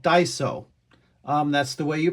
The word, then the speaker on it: Daiso: So, as you guys saw, there is a store called Daiso. That's the way you pronounce it.